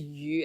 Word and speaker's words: Yu: But so like so my last name is Yu, as in like Shen Yu, the Yu, so like access. But phonetically it sounds like fish.